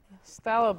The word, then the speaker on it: phthalo: There's always this controversy on how to pronounce it. Phthalo, phthalo. And I have some teachers swear by one way, another by another. So consequently, you're going to hear me saying it two different ways.